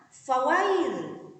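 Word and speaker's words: فَوَيْلٌ: Sehingga cara membacanya kita harus lentur, harus lunak. Bagaimana membacanya? Fawail, fawai, ya, harus lentur.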